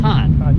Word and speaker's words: Cannes: How do you pronounce it? Con? It's Cannes. Con. Yeah. All right. There is a Cannes in France. That's But where that's the film festival is. A-N-N-E. A-N-N-E-S. Yeah. A-N-E-S. And that's the film festival. That's in the south of France. Gotcha. So this place is Con.